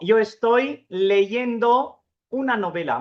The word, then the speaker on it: leyendo: तो यहां पे भी इसका जो gerundio है वो होता है, प्रोनाउंस उसी तरह से होता है लेकिन होगा leyendo।